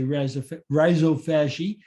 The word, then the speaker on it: rhizophagy: And then we had rhizophagy, which was discovered in Australia, which is why people pronounce it in a different way, I think. But here in America, we say rhizophagy.